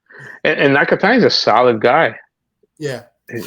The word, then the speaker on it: Nakatani: I thought was the was it Nakatani?